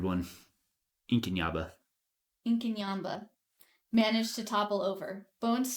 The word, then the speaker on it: Inkanyamba: which Inaba inin yamba I've been saying it wrong the entire time it's a weird one inin Yaba incin yamba managed to topple over